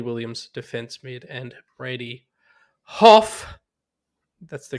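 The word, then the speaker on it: Hough: rock forward bayley williams defense mid and brady hoff that's the correct way to pronounce his name defense mid which i would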